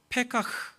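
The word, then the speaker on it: פָּקַח: 여기에 눈을 열다라는 말은 히브리어로 페카흐, 히브리어는 흐 이런 게 있어요. 그리고 칵 이렇게 막 가래침 뱉는 이런 발음이 있어요.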